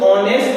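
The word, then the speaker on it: honest: Show हो रहा है, लेकिन एच हमारा साइलेंट है, साइलेंट पढ़ा नहीं जाता लेकिन लिखा जाता है।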